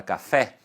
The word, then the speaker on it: café: Por exemplo, quando eu digo a palavra café, você percebe que a sílaba tônica, que é a sílaba mais forte, está no fé.